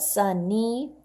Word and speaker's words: sunny: But sunny, 2 syllables, sounds like an E.